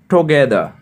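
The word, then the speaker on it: together: টুগেদার, টুগেদার একসাথে, এখানে টুগেদার হবে, ব্রিটিশরা আর এর উচ্চারণ লাস্টে করে না।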